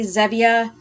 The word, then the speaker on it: Zevia: before of uh xevia i say xevia they say zevia i apologize if i if i'm saying it wrong um but i already